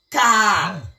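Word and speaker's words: Kahal: Ecclesia pour latin et kitsch pour les anglo-saxons est traduit par l'expression biblique qui est Kaal.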